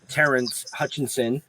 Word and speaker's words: Terrence Hutchinson: See, we just announced next week's show for you folks, as Butta said, Terrence Hutchinson, did I pronounce that right?